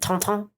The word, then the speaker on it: Tintin: I like how the French say Tintin. They pronounce it Tonton.